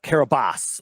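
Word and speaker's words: Kiribati: big and it was registered to the island of Carabas which was it's it's uh it's spelled out kabati with a t kabati right and uh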